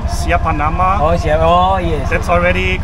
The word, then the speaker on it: Siapa nama: Nama siapa? Nama saya.